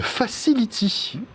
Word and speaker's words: Facil'iti: Fondateur de Facility. Voilà, attention, ça s'écrit avec des petites...